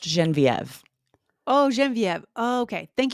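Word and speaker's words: Genevieve: Lindsay it's actually pronounced genen viev oh genen Viv okay thank you for letting me know no problem this is a good example of a French name that does exist in English it's quite rare it's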